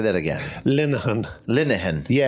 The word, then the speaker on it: Linehan: Linehan, with the soft I. I always ask. Say that again. Linehan.